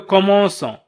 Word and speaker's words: commençons: إن لم تكن هذه العلامة على شكل 5 أسفل الC واسمها CD فسنقول nous commençons quand سننطق quand وليس son quand. لذلك أضفنا علامة على شكل 5 أسفل الC لنقول nous commençons.